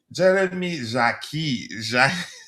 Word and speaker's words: Jacquet: We've addressed this one here, and Jeremy Jacquet.